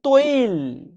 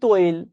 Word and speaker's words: তৈল: বিভিন্ন কারণে এটা হয়, কিন্তু কথা হচ্ছে এই তেল শব্দ থেকে এখন শব্দ এসেছে তৈল। আমরা বলি তৈল, কিন্তু এটার অ্যাকচুয়াল উচ্চারণ হচ্ছে তৈল।